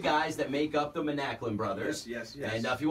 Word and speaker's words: Manaklin: That's all coming up, but we're lucky enough to be joined in studio by some special guests, the Manaklin brothers.